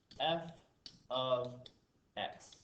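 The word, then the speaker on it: f(x): realize how this is pronounced again this is pronounced f of x this would be pronounced f of now there's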